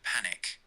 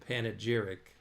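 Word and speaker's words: panegyric: little dramatic now I I didn't say panic I said panag jeric p a n g y r i c are those synonymous or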